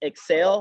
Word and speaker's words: XL: okay so it was the pronunciation was excel like you know going up but we spelt it